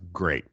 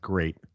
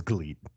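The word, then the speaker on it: GLEAT: called glee it's it's it's spelled g-l-e-a-t but in katakana it's pronounced great that's how it's pronounced it's supposed to be pronounced great but it says glee you can't write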